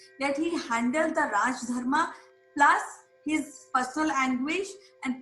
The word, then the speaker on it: dharma: In Pali language, dharma is pronounced as Dhamma, Dhamma.